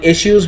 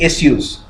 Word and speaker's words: issue: by the way the in the British pronunciation of this word is actually issues okay whereas in the u.s. and India we mostly say issue with the H SH okay but actually the classical British pronunciation has issues there is no H in that okay so anyway so